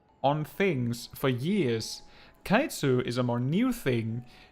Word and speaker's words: Caetsu: almost I named her kaitsu which has an an e that you can choose to not pronounce and it is intended to be pronounced in like a Japanese style which means that you